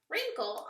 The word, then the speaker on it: wrinkle: W, wrinkle.